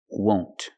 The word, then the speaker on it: won't: Contraction, will not, won't. Use the long O, like no and go. Won't.